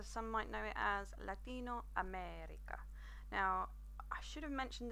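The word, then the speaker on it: Latinoamérica: but I didn't but you'll see that there is an accent over the e in America what that basically indicates to you is you need to pronounce that vow a little bit longer so you'll hear my voice where I say Latino America so so practice whenever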